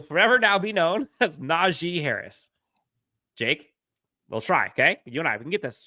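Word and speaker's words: Najee: Naji has publicly said his name is not pronounced n the G makes the long e sound and not the a noted he will forever now be known as Naji Harris Jake let's try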